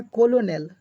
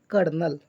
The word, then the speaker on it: colonel: COLONEL लिखाता है कोलोनेल, इसको पढ़ते हैं क्या, कर्नल।